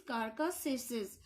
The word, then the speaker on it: carcasses: बट no animal carcasses, okay, remember this point, its pronunciation is carcasses, were found, carcasses means होता है dead bodies of animals, जो उनकी शव होते हैं।